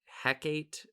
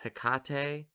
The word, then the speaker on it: Hecate: i think i said something about like hecate or something and i was told that it's hikate i'm pretty sure i'm also saying that wrong still but my mother informed me that i was saying it wrong and i was like